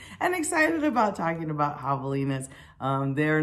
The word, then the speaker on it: javelina: you may not have even understood how to pronounce it or what it says i've got it written down right here javelina jovelina and i've made videos of them so you